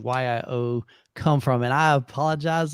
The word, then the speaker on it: YIO: whole video i'm like yeah check out the yo remote and i'm like you dummy i even asked you guys prior to making that video how do you pronounce it so it's actually y i o remote so kind of tell us what it